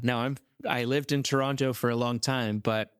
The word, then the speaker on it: Toronto: Now I'm I lived in Toronto for a long time, but when you're from Toronto, you don't pronounce the T's. It's Torana.